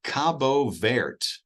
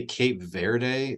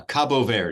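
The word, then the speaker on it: Cabo Verde: saying it wrong well it's Portuguese so they're not named in Spanish they're Portuguese and it's Cabo ver is how they pronounce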